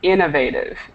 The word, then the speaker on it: innovative: right here should be Innovative Innovative inov okay let me take not so the stress is on that first syllable Innovative inov inov okay